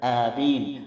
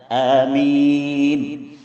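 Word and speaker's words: آمين: നമ്മൾ പറയരുത് വലാീൻ ആമീൻ ചെറിയൊരു ഗ്യാപ്പ് ഇട്ടുകൊണ്ട് ആമീൻ ആമീൻ എന്നല്ല ആമീൻ ഈ പ്രാർത്ഥനയ്ക്ക് നീ ഉത്തരം നൽകണേ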